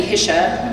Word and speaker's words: Hische: see them but then it should be hisa which sounds way fancy and I I don't